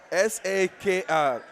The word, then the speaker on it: Sakr: It is S-A-K-R. We believe it's Sakr.